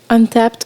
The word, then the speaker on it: Untappd: Ça s'écrit UNTAPPD. Untapped, comme si c'était genre une action.